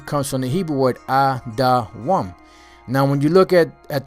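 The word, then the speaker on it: אדום: All right, the name Edom is Adawam. That's how it's spelled, Adawam, which the name Adawam means red, like the color of Esau's skin, red.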